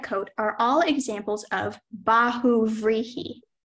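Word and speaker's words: bahuvrihi: brow and red coat are all examples of Bahu rihi b a h u b r i h i baguri that is correct speller 13.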